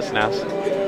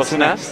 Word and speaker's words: SNES: Oh, SNES? No, you said SNES. You're saying you always say SNES. SNES. Oh. SNES. SNES. SNES, okay. It's one syllable, not two.